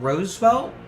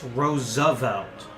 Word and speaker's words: Roosevelt: a different time very would be said Roosevelt its Roosevelt there's an additional syllable in there that he missed so then again Sean